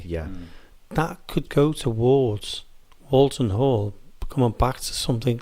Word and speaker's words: Walton: one in ones and there's walton wal like walt disney yeah whereas this one is wool like a what you get off a sheep yeah but yet so